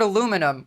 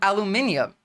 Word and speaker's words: aluminum: detailed and fact guys the guy who like discovered aluminum was British and he called it aluminum you guys are the the ones that say it wrong with aluminium the British guy who